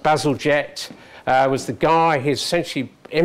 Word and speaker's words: Bazalgette: So linking onto that, as you all know, many of you, in this country pronounced Bazalgette, was the guy who